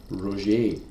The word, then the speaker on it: Roger: He gave his name only as Roger, pronounced Roier.